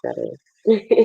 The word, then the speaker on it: Jade: Yeah, it's pronounced Jade.